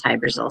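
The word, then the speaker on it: Hy-Brasil: Sometimes it's spelled different ways, but I've heard it referred to as Hybrasil, so that's how I pronounce it.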